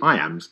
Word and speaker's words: iamb: The word iam is pronounced just like the phrase I am.